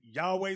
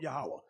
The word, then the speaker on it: Yahawah: uh they may say some say Yahweh some say yahawah I was taught yahawah that's how to pronounce it now you see the